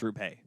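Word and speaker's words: Hintz: no rupe hints it's it looks like roop but it's root pay repay hints him and yoel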